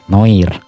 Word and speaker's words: Noir: Yang benar Noah ya, soalnya cara bacanya pakai bahasa Prancis, tapi saya malas jadi saya baca pakai bahasa Indusja yakni Noir.